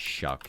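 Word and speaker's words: Shough: Uh, his name is Shuck, even though it looks like show. It's a very odd pronunciation of something that is not even close.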